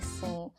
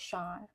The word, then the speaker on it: Sean: Oh wait, I just realized I kept on saying Scene. It's pronounced Sean.